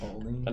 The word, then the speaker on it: Olney: So that's how you say it, Olney. Olney. Only.